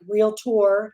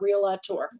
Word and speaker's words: Realtor: if you learn today there's two syllables in real Tor it's like real tour not real a tour so let's get that